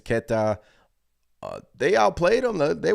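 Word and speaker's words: Queta: cornette and neas Keta is it ketta or ke sorry if I'm mispronouncing the name it's ketta uh they outplayed him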